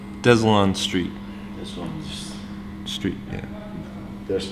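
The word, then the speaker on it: Deslonde Street: the Mississippi and to clarify it is it's pronounced des allanstreet this one Street man there's something more behind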